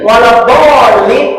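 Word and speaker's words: والضالين: Berarti waladdallin itu tergantung bacaan kita. Kalau bacanya cepat, berarti ketukan cepat.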